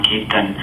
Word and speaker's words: Kirtan: Yeah, in India, in my native language, we call it as Kirtana. In America, it is Kirtan. I pronounce it differently.